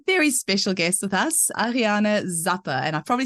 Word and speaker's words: Ariane Zappe: Today we have a very special guest with us, Ariana Zappa. And I've probably said your name wrong now, so you'll have to say it again.